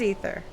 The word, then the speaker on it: aether: Actually, what is the correct pronunciation of that word? Is it aether? Is it ether? It is ether.